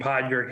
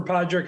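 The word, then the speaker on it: Padraig: got this one because there's a famous golfer named Podrick Harrington so it's Padre all right isn't and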